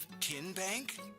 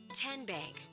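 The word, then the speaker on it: TN Bank: How do you say the name? Kien Bank? Nope. Kin Bank? Uh-uh. So, what is it? 10 Bank. 10 as in Tennessee.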